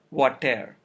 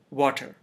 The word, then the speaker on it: water: in this word water if the schwa sound were not there then we would say what there it's not what there it is water there two syllables the first one is stressed while the second one is unstressed and the schwa is in the unstressed syllable if a word has